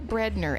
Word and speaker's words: Breadner: So today we're kicking it off with Breadner. Am I pronouncing your last name correctly? Yes. Good. Yes. Okay. It's pretty simple. I always say it's just bread, as in white bread, and ER on the end.